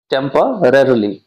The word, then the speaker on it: temporarily: टेम्पररली, ये ध्यान से प्रोनाउंसिएशन करिएगा क्योंकि इसमें दो र का प्रयोग किया गया है, टेम्पररली, रेयरली। ठीक है, तो ध्यान से प्रोनाउंस कीजिएगा इसका।